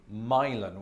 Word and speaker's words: Milan: but what the heck called their city milon which does sound like an american boy's name funnily enough though some